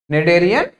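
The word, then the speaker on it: Schneiderian: है ना, क्या बोलेंगे, नेडेरियन मेम्ब्रेन, ठीक है, स्पेलिंग पे मत जाइएगा, ठीक है, इसको प्रोनाउंस करेंगे क्या, नेडेरियन मेम्ब्रेन, ठीक है, यहां तक की चीजें क्लियर हो गई होंगी, आगे बढ़े।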